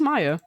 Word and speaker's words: Maya: Hello, this is Maya.